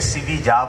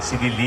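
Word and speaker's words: Sevilla: অতিক্রম করার পর আমরা জিজ্ঞেস করছি যে ইংরেজিতে জিজ্ঞেস করছি যে সিবিজা একটা জায়গা আছে, সিবিজা ইংরেজিতে লেখা, ইংরেজি অ্যালফাবেটে আমরা দেখেছি না জায়গাটা সিভিলি এল আছে, কিন্তু স্পেনে এটাকে সিবিজা বলে, সিভিলি বলে না।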